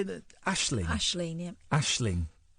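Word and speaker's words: Aisling: that Ashley Ashling yeah Ashling Ashling Ashling Ashling Ashling you're saying in yeah Ashling a i s l i n g ashing RS I wouldn't pronounce the G I'm not pronouncing the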